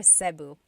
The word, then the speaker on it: Cebu: So, technically in the Tagalog alphabet, the letter E can be pronounced E or E like the letter I. So, I say Cu. Cu. And I know some people say su, but usually it's either Cu or Sebu.